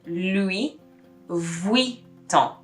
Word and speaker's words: Louis Vuitton: v and the u it makes a vui sound so you really know somebody's making an effort when you hear louis vuitton you see the difference